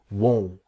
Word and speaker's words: won't: This is the pronunciation part that will not is won't. If you see the mouth, it's a small won't. Won't won't. But want is different that this part here comes down want. Practice won't want. Here want. Okay. Won't. Want. That's the difference. So here I won't go with the T. The T is silent.